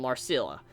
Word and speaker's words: Marcella: The second woman is an industrial spy, a Romanized Celtic woman named Marcella. The C is pronounced like a K. Marcella?